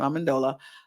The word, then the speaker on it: Amendola: I said I was going to remember how to pronounce his name. Amendola.